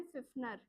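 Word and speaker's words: Pfiffner: और व्यक्ति है जिसका नाम है फिनर पी साइलेंट है इंग्लिश में हिंदी वाले तो फ से ही लिखेंगे सीधे अब देखो फिनर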